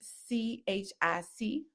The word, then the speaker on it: chic: Um so the word chic c h i c the pronunciation of chic is s h e k looked at it.